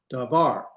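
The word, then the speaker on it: דָּבָר: Davar. It's not dvar, it's dvar. It's not dvar, it's dvar. Can you hear the slight difference? You're gonna put the accent at the end of the last syllable.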